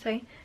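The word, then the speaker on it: Saie: up i believe is the say s-a-i-e i think it's pronounced say this the dew bomb bouncy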